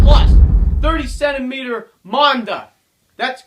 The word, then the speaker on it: Manda: guys, final review, and today we're doing the F plus 30 centimeter Manda. That's right, that's how you pronounce it.